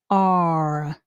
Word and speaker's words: are: And the e is silent. are are Okay?